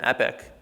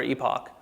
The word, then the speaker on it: epoch: which we Define as an epic or Epoch depending how you pronounce it um what we